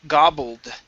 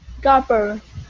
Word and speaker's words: gobbled: copper it down okay pronounce they pronounce a d sound here so you're able to say gobble that's good but we need a so connect it to the word it gobble dit gobbled it down double deep down good good just like that okay um next up